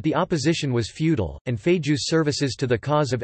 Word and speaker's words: Feijóo: Friar Benito Jerónimo Feijóo y Montenegro, Spanish pronunciation, Benito z Onimo Feijóo, the 8th of October 1676 to the 26th